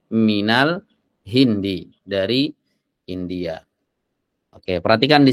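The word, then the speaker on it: مِنَ الْهِنْدِ: ya asalnya Al Hindu asalnya Al Hindu di dhomah Kenapa di sini Al Hindi karena ada min min sebelumnya kita Jelaskan ya dia adalah huruf Jar ya Sehingga dibacanya Minal Hindi dari India Oke perhatikan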